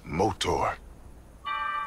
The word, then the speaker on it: Motaur: motor it's pronounced motor for those who were